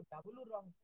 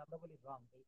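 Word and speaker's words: wrong: এটা কিন্তু ডব্লিউ আর ও এন আমরা কিন্তু ডবলিউ রং। ডবলিউ রং ধরি না আমরা বলি রং।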